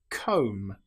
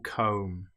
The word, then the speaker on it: comb: The B can sometimes come after the letter M. An example might be lamb or comb. Here we don't pronounce the B. We don't say lamb. It's just lamb or comb. The B is totally silent.